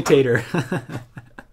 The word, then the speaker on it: Tatar: Is it pronounced Tatar or Tater? You don't see a lot of the autographed foils in this set. Sweet. Definitely Tater.